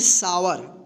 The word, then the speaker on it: sour: तो देखिए यहाँ पे ओ यू क्या है, एक साथ है ना, तो इसका आ उच्चारण होगा, आवर, ठीक। एस SOUR, इसको क्या पढ़ेंगे? सावर, ठीक।